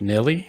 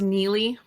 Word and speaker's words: Nili: okay so this week we're with Nelly is it uh it's pronounced Neely spelled strange yeah okay no that's that's why